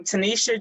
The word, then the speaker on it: Tenita: yeah so i am tanisha if you see my name spell it actually looks like tanita it is not a typo which is ironic darnell